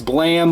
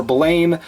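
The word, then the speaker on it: Blame!: is Tsutomu knee Hayes blam or blame depending on you want to pronounce it the master edition from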